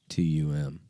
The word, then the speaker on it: Kratom: Kratom is pronounced Kraytum. Kratom.